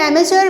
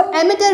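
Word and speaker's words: amateur: देखें, यूएस में इसको प्रोनाउंस करते हैं एमेचर, बाकी इसको एमेटर भी कहते हैं इंग्लैंड की लैंग्वेज में। ठीक है जी। इसको आप एमेचर कहें या एमेटर कहें, एक ही बात है।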